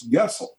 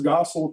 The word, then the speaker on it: Goessel: was kurt vonn gessel the germans would pronounce it as gessel but he saw the